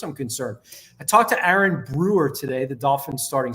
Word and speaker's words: Aaron: snap he liked that Aaron Aon Brewer by the way like a y r i n Aon Brewer that's how he would like to pronounce it he asked me to